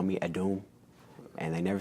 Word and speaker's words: Adom: It's pronounced Adom. It is a West African name, coming from the West African language of tree. The second letter in the word is like a R and a W mixed together, so tree.